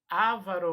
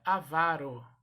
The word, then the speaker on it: avaro: Se fosse ávaro, já levaria acento no primeiro A, né? Porque toda paroxítona é acentuada. Nem está acentuada, né? A sílaba tônica é a penúltima, então se pronuncia avaro.